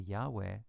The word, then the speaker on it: Yahweh: y a we the Yahweh name of God was written first with a j j a and pronounced Yahweh so it's that that little German J equals a y sound that's caused this to